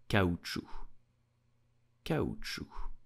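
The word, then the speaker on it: caoutchouc: will pronounce it so here the C at the end is totally silent so do not pronounce it and simply say cow true did you know that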